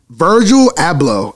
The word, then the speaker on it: Virgil Abloh: start off with a little tragic news here virgil abloh i don't even know if that's how you